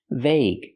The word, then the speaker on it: vague: common pronunciation of gue the UE is silent that's the most common pronunciation vague use the long a like day and say V vague it means not clear